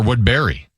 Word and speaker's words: Woodbury: We say Wood Berry. Okay. But it's more saw it's more spelled like a b e r r y is the sound, yeah.